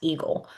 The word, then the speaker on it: AEGL: guideline limit um or the AEGL which is pronounced eagle.